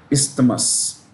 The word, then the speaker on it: isthmus: Now let's look at this word, isthmus. What's an isthmus? The S is pronounced. It's not like island, okay?